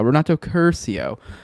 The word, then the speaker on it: Renato Curcio: There you go, Renato Curcio.